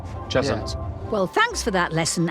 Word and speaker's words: Cheshunt: Cheshunt, I think that's how you pronounce it. Not chestnut, Cheshunt.